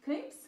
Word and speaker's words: Knoops: Although I always used to call it Noops, and then you know sometimes brands actually write how it's supposed to be pronounced. It was Knoop's, so I was like, okay, I am wrong.